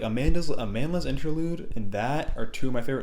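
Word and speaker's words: Amandla: Amanda's Interlude, I think that's how you say it. It's like Amanda with an L.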